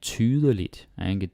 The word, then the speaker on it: tydeligt: And tydeligt. Tydeligt. 3 syllables, but you might hear like tydeligt. Like the E doesn't really get pronounced.